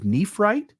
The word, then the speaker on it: nephrite: is that the rock nephrite, which I thought was at least worth mentioning. Okay. And it is actually spelled the same as Nephite, except with an additional R, right? It's Nephrite, right?